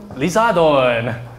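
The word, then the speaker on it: リザードン: English this is Charizard in Japanese it's liardon okay so it's like lizard Don okay in Korean it's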